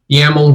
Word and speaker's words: YAML: So I think I'm trying to remember what the acronym of YAML is, but YAML, which rhymes with camel, is an acronym that means yet another markup language.